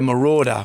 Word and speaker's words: Marauder: Yeah, little pink Mercury Montclair Marauder. Rhymes with daughter.